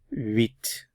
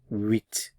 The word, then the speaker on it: huit: Huit. The H is silent, so huit, huit.